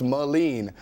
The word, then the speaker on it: Melin: thanks for the Pro but it's pronounced malen and he wrote yeah